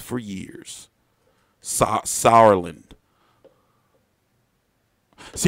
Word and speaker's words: Sauerland: names for years saw Sauerland see if I just pronounce it like sour like you know like sour you know then I